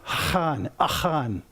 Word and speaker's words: Achan: And by the way, if you want to be accurate, it looks like Achan, but it's pronounced Achan.